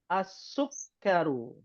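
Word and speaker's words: السُّكَّرُ: albabu berikutnyaib atibu berikutnya asukar asukkaru asukaru tasdidnya ada dua Sin dan huruf Kaf asukaru berikutnya addaftaru addftaru berikutnya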